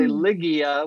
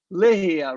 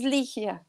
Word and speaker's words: Ligia: I want to say Ligia with a G sound. With the G is actually an H sound. It should be Ligia, right?